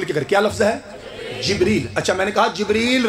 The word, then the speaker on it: جبریل: جبریل.